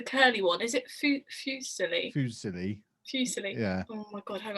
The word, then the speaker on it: Fusilli: Fusilli.